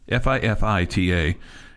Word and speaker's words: Fifita: have to get that fii ta is how you say his name uh Arizona State not